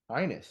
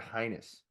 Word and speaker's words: heinous: Did you just say highness? heinous, yeah. Heinous. I pronounce it highness. No, that's like your royal highness.